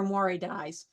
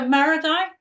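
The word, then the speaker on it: marudai: I always thought they were Mori dyes. Maradi. Okay, so Maradi.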